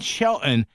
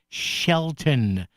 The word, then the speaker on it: Shelton: You don't you don't need to pronounce the T. It's just Shelton.